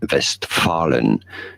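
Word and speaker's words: Westfalen: that region in German that region is not called Westfalia or west FIA or anything like this it's called vest vest Fallen vest paren so don't feel bad about pronouncing it the English ways this is an English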